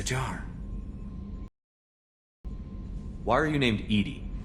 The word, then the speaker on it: EDI: Why are you named Edy? Edy is is the phonetic pronunciation of EDI.